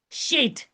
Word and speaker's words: shed: What is Shin Dalet? Shed. You pronounce it shed.